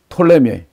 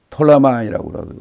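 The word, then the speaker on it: Ptolemy: 북쪽에 있으니까 그 다음에 톨레미 톨레마이라고 하기도 하고 프톨레미라고 피자를 묵음으로 보통 미국에서는 톨레미 영월은 톨레마이 이렇게 얘기합니다 그 톨레미이 텔레비 장군은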